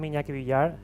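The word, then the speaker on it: Iñaki Villar: I'm Inaki Villar. The name is a little bit hard to pronounce.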